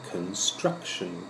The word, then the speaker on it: construction: Okay, now our next kind of company is a construction company. The stressed syllable is the middle one.